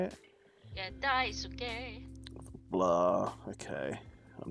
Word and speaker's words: Daisuke: Yeah, Daisuke.